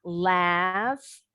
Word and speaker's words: laughs: Cliffs, laughs, bunyi GH jadi F ya. Boleh bacanya laughs, just like the Americans, or laughs, just like the British. Laughs, laughs. Dua-duanya betul.